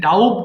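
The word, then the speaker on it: doubt: letter যে আছে বি এটার উচ্চারণ হবে না সাইলেন্ট থাকবে সো এটা ডাউট হবে না ডাউট হবে সিম্পলি সো ডাউট সন্দেহ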